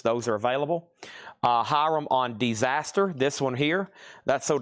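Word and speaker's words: Desaster: It's Disaster, but it's spelled D-E instead of D-I.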